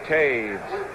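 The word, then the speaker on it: Toews: Lauren Taves made the tackle, number 51. That's spelled T-O-E-W-S.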